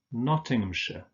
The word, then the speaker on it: Nottinghamshire: shire, of course, but in these place names, in combination with the names of towns, for instance, this is pronounced sh. So we have Oxfordshire, Nottinghamshire. Remember that ham is just pronounced so Nottinghamshire.